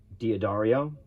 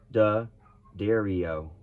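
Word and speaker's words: D'Addario: it's crazy all right dia dario no da dario have you ever wondered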